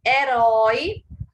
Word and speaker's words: herói: os das palavras oxítonas Olha aí herói sílaba tônica herói então é uma oxítona terminada em ditongo Oi portanto leva acento assim